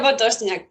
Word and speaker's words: Potosniak: Bien, Se pronuncia Potosniak, pero perfecto.